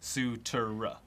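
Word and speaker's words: Cutura: how do you pronounce the name spelled c-u-t-u-r-a and yes you're referring to the croatian sensation an outside hitter on the 12th ranked women's volleyball team hana sutera that's sutura well that about wraps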